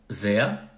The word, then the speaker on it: sehr: Sehr, som de A no final, então sehr, como se fosse Z-E-A.